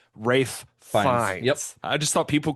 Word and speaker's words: Ralph: But that is that is like Rafe is the old English pronunciation of the name that later turned into the pronunciation of Ralph.